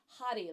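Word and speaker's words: Hari: your spine same chant hot hottie like h a r i and you can roll your r a little bit okay so turn to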